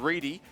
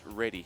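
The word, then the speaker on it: Ready: Reedy for coming in and providing this to us. But the correct spelling of Alice, R-E-A-D-Y's last name, with the correct pronunciation at least, is definitely Reedy, not Reddy.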